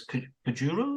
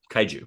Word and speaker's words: kaiju: with the pronunciation because the Japanese word for them is kuru. Is that right? Uh, kai kaiju. Kaiju. Kaiju.